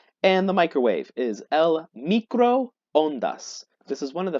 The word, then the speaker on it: microondas: Now, in English, when we see a double O, we usually will say u, like in the English word two. However, in Spanish, we're actually going to pronounce each of those O's separately.